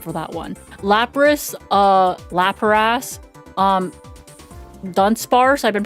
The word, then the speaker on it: Lapras: I have been pronouncing the Pokemon name Lapras Laparass as far as I can remember. So, as far as I'm concerned, I'm going to continue pronouncing it Laparass.